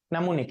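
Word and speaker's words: mnemonic: এটাকে ইংরেজি আবার দেখো এটা পরীক্ষায় প্রশ্ন আসে নেমনিক মানে মানে কি নেমোনিক হ্যাঁ এটাকে উচ্চারণটা কি ইংরেজিতে উচ্চারণ হয় নেমোনিক নেমনিক হ্যাঁ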